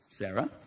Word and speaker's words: Sara: Like Sarah with an H, or Sarah without an H. Sarah without an H is pronounced like this. Sarah.